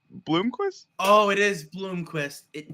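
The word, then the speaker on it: Blomqvist: gonna call blist up from didn't dubis say Bloomquist oh it is Bloomquist it is Bloomquist how about Bloomquist you spell it right dude all right anyway Bloomquist okay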